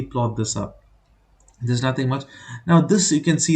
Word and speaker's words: mu: this symbol is Mu mu okay but it's pronounced as Mu it's a Greek alphabet even this one it's